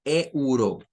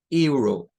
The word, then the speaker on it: euro: Aunque no lo parezca, tiene dos sílabas, pero la primera sílaba, miren, es la E, la U y la R, y la otra sílaba es solo la O. Esa sería la segunda sílaba de esta palabra. Que nosotros en español lo leemos como euro, o sea, muy, muy literal, euro. En este caso, esto vendría siendo como euro, euro.